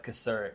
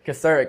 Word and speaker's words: Kocourek: It's Kocourek. Kocourek.